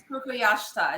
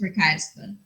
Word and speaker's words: Prakashta: Pallavi Prukayashta. Is that how you say it? That was really close. It's Prakashta. Oh, Prakashta. So sorry, Prakashta. Pallavi is a Democratic strategist in our beloved swing state of Virginia.